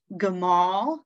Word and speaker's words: Gimel: We've got Gimel, G-I-M-A-L, Gimel, which is just like Gimel, G-I-M-E-L, right? It's just the way you pronounce it.